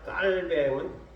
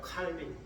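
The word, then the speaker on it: Calvin: 말했습니다 다음으로 종교 개혁자 깔뱅 프랑스 사람이기 때문에 깔뱅 번역 뱅으로 발음을 영어식으로 하면 칼뱅 깔은 이중예정 을 주장했습니다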